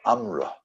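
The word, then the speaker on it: אמרה: Resh Aleph, Imra, or Amra. It sounds exactly like another word we know in the Hebrew language, Amar, which means speech, or to say. He wore a garment that didn't have an imra, didn't have a hem.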